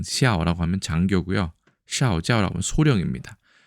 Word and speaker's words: 校: 중국어에서는 샤오라고 발음을 하고 이때는 학교의 통칭을 말합니다. 학교를 중국에서는 슈에짜오라고 안 하고 슈에샤오라고 얘기합니다.